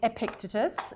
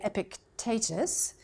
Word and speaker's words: Epictetus: I sometimes overhear people saying how do you pronounce it and some people say I picked itis some people say the Americans seem to say Epictetus I say epic taters because it's actually a Greek word Epictetus which